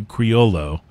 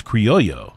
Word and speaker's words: Criollo: with carajo and Criollo white people say Criollo but I think it's Criollo is I think it's actually City though really yeah Wow okay now I probably mess that up a little bit but it's closer to that well they're all from Nicaragua